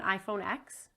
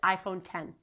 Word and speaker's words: iPhone X: Do you know anyone with an iPhone X? You don't because there's no such thing. Steve Jobs and Tim Cook pronounced it the exact same way. They said iPhone 10.